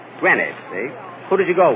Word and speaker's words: Greenwich: Kenny, that's not Greenwich. You see, here in New York, it's pronounced Greenwich. Greenwich, see?